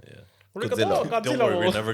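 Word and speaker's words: ありがとう: Arigato. Origato. Yeah. Arigato.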